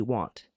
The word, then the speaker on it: wont: Well, I pronounce W-O-N-T, want. Sorry about that. I have never used that sentence in my life. I am wont to do. I pronounce it want. I pronounce W-O-N-T, want, instead of won't.